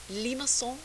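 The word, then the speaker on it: limaçon: shapes lima song curves i practice my french pronunciation just for you limasson curves are graphs of polar equations of the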